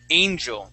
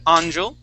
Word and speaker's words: angel: Um our next word here is angel. Okay. Here you had said anel. Okay, but this is an a sound. A. Angel. Try that.